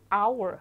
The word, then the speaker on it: hour: 그렇다면 바로 뒷 단어의 첫 소리가 hour.